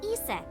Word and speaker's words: Isis: The ASET thing. horse's mom is named Isis, but in ancient Egyptian, it's pronounced closer to Iset or Aset.